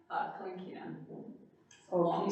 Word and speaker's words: Kalinkina: Kalinkina. Oh, can you spell that?